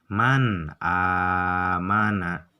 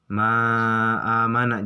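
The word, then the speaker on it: مَنْ آمَنَ: Jadi dua-duanya huruf antara nun mati dan hamzah itu harus jelas. Kebacanya harus jelas. Man amana gitu. Jangan man amana, jangan gitu. Jangan ma amana, jangan.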